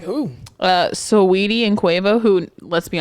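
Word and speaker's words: Saweetie: it to be okay i'm gonna say sweetie okay it is sweetie but i am dyslexic so i have to say so edie yeah cause that's how it's spelled so her and who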